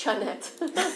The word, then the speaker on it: Chanette: this up, but Chanette, is that how you pronounce that? I think both you and my mom are mad with me because I married and divorced a Frenchman, so it's Chanette.